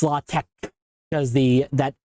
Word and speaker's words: LaTeX: Um and you can also you might have also heard of latte which you might have pronounced previously as latex. It's latte because the that X looking thing is actually the uh Greek letter I think it is.